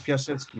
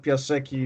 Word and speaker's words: Piasecki: And as far as Piasecki is concerned, it's Piasecki, not Piasecki. It's CKI pronunciation.